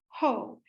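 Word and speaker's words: JOH: to as Hernandez or ho his initials are j-o-h and in Spanish that's pronounced ho you will see and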